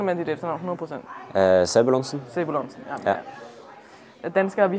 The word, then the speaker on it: Sebulonsen: Hvordan udtaler man dit efternavn 100%? Sebulonsen.